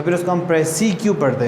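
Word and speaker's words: précis: इसको अगर आप स्पेलिंग देखें तो ये लिखा है प्रेसिस और अगर आप इसको प्रोनाउंस करते हैं तो इट इज़ प्रेसी.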